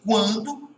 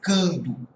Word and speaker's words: quando: Em quando esse U é pronunciado, e se ele é pronunciado, ele não forma dígrafo, ok? Só seria dígrafo se a pronúncia fosse cando, tá?